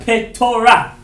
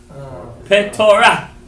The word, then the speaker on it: Petorah: Not Porah, but Petorah. Petorah.